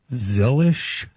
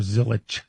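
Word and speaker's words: Zilisch: His name is actually pronounced Zillish and it's Salich. So, you know, it drives me crazy when they pronounce and every announcer calls them Connor Zillich.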